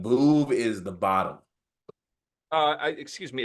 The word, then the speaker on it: Veuve: It's pronounced a Veuve Clicquot. No, it's Veuve. It's a Veuve Clicquot. It's Veuve. It's Veuve. We know that if you took French in high school like me.